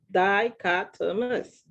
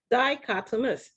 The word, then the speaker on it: dichotomous: are saying it incorrectly repeat it after me die cut to us dichotomous they repeat it again